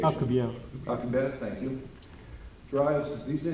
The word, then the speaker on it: Alcubierre: What's the proper pronunciation? Alcubierre. Alcubierre, thank you.